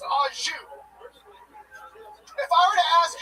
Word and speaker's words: au jus: A French dip is so luxurious, that shit comes with no dipping sauce, and that dipping sauce is pronounced au jus.